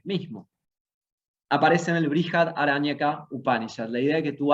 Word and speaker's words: Upanishad: cerca, Sad o Yad, porque la S con el puntito tiene una H, que a veces la van a ver escrita y a veces no, pero se pronuncia Upanishad.